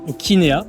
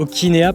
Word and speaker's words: Okinea: Alors, Okinea. Okinea, c'est pardon. ça. Okinea parce qu'on est keen, on est sympa, on est OK.